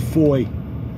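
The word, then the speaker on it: Fowey: today I'm down in a place called Foy it's spelled f-o-w-e-y I'm actually down in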